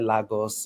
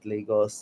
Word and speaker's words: Lagos: I think if you're from Lagos State, which is like the most popular state in Nigeria, you hear Lagos, and Lagos, different depending on the pronunciation, and that's like the city, super exposed, everything.